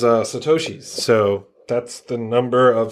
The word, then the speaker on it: Satoshi: I was like, well, it's Japanese and there's 3 characters, so 3 syllables. Satoshi.